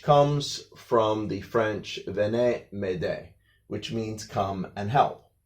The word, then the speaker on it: m'aider: So it's "m'aider" and of course remember in French, a lot of times the last letter or the last syllable is sometimes silent.